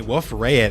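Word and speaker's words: Wolf-Rayet: And apparently wolf rayet is pronounced wolf rayet, but I refuse to pronounce it like that because no. Apparently the guy was French.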